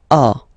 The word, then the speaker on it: as: Okay, second one, tu as. Okay, as usual in French, final S is not pronounced.